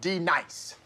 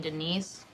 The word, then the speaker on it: Denise: feel my wrath now dee-nice do you mean Denise you say your name right right now Denise okay right Danine correctly Denise like Denise right be nice that's better thank you